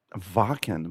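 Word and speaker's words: Wacken: Um there's a I'm flying this summer to Germany and it's called Vakan, but it's spelled with a W.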